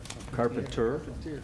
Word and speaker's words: Carpentier: We do have a resolution for Meredith Carpentier, I believe is how you pronounce the name? Carpentier. Carpenter. Oh, the I is silent.